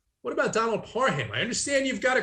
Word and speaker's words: Parham: what about donald parham parham as he corrected everybody on twitter this week and said this is the way you say my name what about donald parham i understand you've got